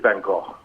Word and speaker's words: Van Gogh: it's just something the the correct is Van go you did the girl